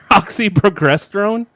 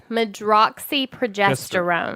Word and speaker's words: medroxyprogesterone: because it's oxyprogesterone. Like I can't pronounce. It is medroxyprogesterone. There we go.